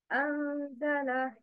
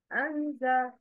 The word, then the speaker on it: أنزل: أنزل. But the wrong is أنزل. مرعاها. The word is pronounced connectedly without pausing at the separated letters.